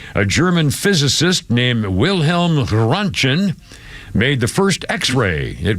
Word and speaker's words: Röntgen: What I mispronounced that? It's Röntgen.